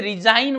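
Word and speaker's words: resign: जैसे रिजाइन word है, रिजाइन, रिजाइन, लेकिन अगर इसके ATI-1 लग रहा है तो ये हो जाएगा रेजिग्नेशन, रेजिग्नेशन, ग की साउंड आपको सुन रही है, रेजिग्नेशन, रिजाइन, रेजिग्नेशन, रिजाइन, रेजिग्नेशन।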